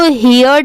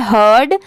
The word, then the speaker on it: heard: ये है हर्ड, इसको हियर्ड नहीं पढ़ेंगे, इसकी प्रोनाउंसिएशन है हर्ड।